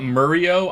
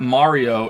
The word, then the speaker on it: Mario: But it's not Murio. I'm not even American. Who says Murio? No, who the fuck pronounces his name Murio? I think the only one in the games that says it Mario is Peach, right?